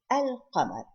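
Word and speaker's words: القمر: Al-Qamar. So I pronounce the Lam.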